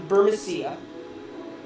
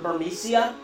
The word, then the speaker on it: Burmecia: from now we're in Borussia which I guess is how you pronounce it and it's not burmecia fit a little Al's